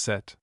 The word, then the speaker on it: sept: Sept pronounced set.